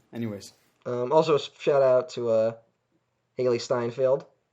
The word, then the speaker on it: Steinfeld: Also, shout out to Haley Steinfeld. Is that how you say it? Yeah, Haley Steinfeld. I keep wanting to say Seinfeld.